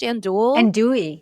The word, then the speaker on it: andouille: Andouille sausage? Andouille, yeah.